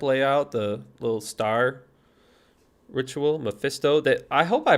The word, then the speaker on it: Mephisto: It looked terrible, but I think Mephisto looks pretty cool.